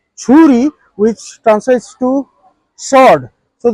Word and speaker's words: Shuri: And Suri, it is to be pronounced as Churi, which translates to sword.